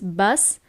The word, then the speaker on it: bus: there on the bus so bus is basically the same word but the pronunciation is very different so in English is bus in Italian is bus okay what time is